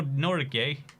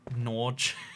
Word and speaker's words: Norgay: cat good girlfriend no nor gay it blew my mind that norgay was not norge because that's how i always pronounced it so i was like